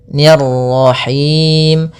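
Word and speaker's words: الرحيم: Nirrahim niya tipis kemudian rnya lagi tebal karena di sini ro tafkhim yaitu ro yang berharakat tasydid.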